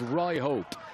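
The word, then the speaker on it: Ryhope: He says, I pronounced it wrong. It's pronounced Rye Hope.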